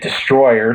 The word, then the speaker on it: Destoroyah: official yeah a distance we should also be pronouncing it destroyer since that what the dub cut yeah we could do